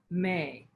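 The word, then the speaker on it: meh: Another technique that we previously discussed was the intonation of the vowel sound May. It's spelled M-E-H, but it's pronounced like the month of May.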